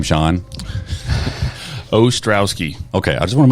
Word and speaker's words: Ostrowski: how do you say your last name Sean ostrowski okay I just want to make sure Sean